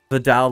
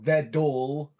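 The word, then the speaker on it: Vedal: Vidal like pedal. So. Okay. And then there's also Vedol, Yeah. which is one of the pronunciations that is considered correct because I think that's the one Evil uses.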